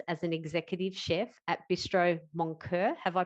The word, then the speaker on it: Bistro Moncur: He spent 7 years as an executive chef at Bistro Moncur. Have I pronounced that correctly?